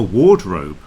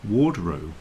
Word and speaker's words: wardrobe: in it but no it's pronounced War because something strange happens with the w which brings us on